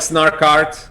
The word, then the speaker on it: Snark.art: snark Starkid snarky or snark how do you pronounce it we call it like snark art yeah we launched two years ago we kind